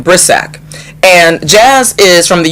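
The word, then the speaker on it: Brisack: And so I read an article about this young woman named Jazz, I think you pronounce her name Brissac.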